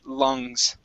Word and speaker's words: lungs: Lungs, you are going to pronounce the G there, okay? Okay. It'll be quick. Because you're going into the S sound, lung, lungs.